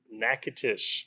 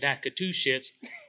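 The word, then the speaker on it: Natchitoches: do you say it nakatish nakatish see i would have said naka two shits but my boy justin here he knows exactly what to say we're at kane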